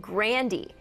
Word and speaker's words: Grande: keep Grande to remember her grandfather but she pronounced it grandiy and in the midst of everyone freaking out